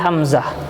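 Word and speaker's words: حمزة: tak marbutoh nya ya kita sukun kan jadi Hamzah ya kalau kita wakop disitu ya HAM Hamzah tuh Hamzah punya tak merebut uh Hamzah kita bacanya Hamzah ya atau Hamzah tuh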